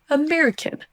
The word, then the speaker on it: American: Et américaine n'existe pas, c'est bien son schwa au début. American.